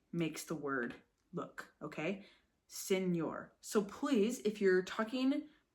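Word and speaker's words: señor: before you don't say senor right how do you say this word senor right Senor n so it's got a it sounds like it's got a y in it Senor right it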